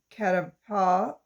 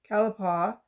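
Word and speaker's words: catalpa: found in california's foothills the caterpillar oh sorry i said it wrong kalapawa has very large leaves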